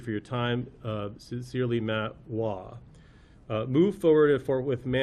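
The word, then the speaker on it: Waugh: His last name is spelled W-A-U-G-H, so as we know from a Dr. Seuss book, there's multiple ways to pronounce that, so it's either wah or wuff. Wah. Wah? Wah, thank you.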